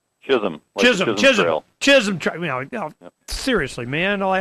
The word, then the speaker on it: Chisholm: Is it Chisolm? Chisholm.